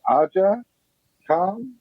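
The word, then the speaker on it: Aja Kong: I don't want to pronounce it wrong. It's Aja Khan.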